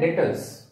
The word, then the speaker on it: debtors: इसका अपोजिट है डेटर्स। B silent है इसमें, इट इज डेटर्स।